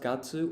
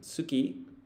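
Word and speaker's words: 月: It's pronounced gatsu or gatsu when counting or naming months and suki meaning moon. Oh, I see.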